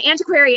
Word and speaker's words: antiquary: knew what an answer query was so an antiquary is just an um person who really likes